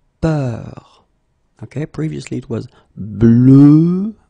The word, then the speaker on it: peur: And then we will have a little bit the same, but it's a bit lighter, more open, and it's peur.